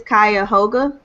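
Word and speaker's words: Cuyahoga: numbers for cleveland and i don't know how to pronounce this county but i think it's kaya hoga yeah yeah okay yeah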